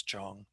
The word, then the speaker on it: Jong: left of that first dot is Lo, it's pronounced Lo. And then the last part is Jong.